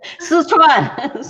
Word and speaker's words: Sichuan: She was born to illiterate working class parents in China's western, I'm not sure how to pronounce that, Lily. Sichuan.